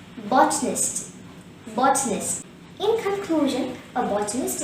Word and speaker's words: botanist: adjective form for bottling the word watchness has three syllables but a nest the first syllable bot is stressed and there is one showing this word hence the current pronunciation will be botnest botness in conclusion a